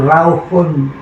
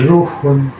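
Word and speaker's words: روح: malaikat yang ditugaskan Allah mengambil satu rauhun bukan ruhun. Tulisannya roh ulama suka membacanya ruh. Iya. yang benar rauh dari alam raihan.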